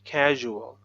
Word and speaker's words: casual: So s, u here pronounced as j, usual. Sual and there's a vowel a, casual.